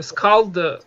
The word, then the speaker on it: Skald: And another idea suggestion that we had is a Skald, I think it's pronounced Skald, hopefully, character for the kind of male character, and if we have time we will do that as well today.